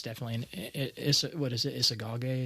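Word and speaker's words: Isagoge: Isagage is how you pronounce it.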